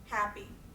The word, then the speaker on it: happy: Happy. Where do you hear the stress there? Happy. That's one of our trochees, and I hope that you're leaving happy from having this experience.